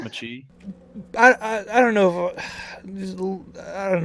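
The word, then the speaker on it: mâché: It's actually it's pronounced machi.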